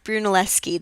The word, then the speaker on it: Brunelleschi: to be talking about Brunelleschi and gilberti um yes his name is pronounced Brunelleschi this SCH the CH before an i in Italian makes a k sound so it's bruschetta just